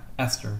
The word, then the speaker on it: ester: Ester, sorry. Yeah. And ester kind of rhymes with Easter. It looks like Easter.